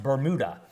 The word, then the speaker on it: Bermuda: I realize that for those of you watching that may not be from around here, a lot of people see that and think, oh, it's Bermuda. But no, it's pronounced Bermuda.